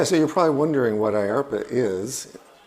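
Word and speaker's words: IARPA: you're probably wondering what I ARPA is rhymes with DARPA sounds like DARPA in fact were modeled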